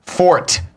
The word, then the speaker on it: forte: perfectly and impeachably correct, you will pronounce the word fort, meaning something that is one's strong point, ideally to the word, identically to the word fort, and reserved for forte, pronounced only for the musical term.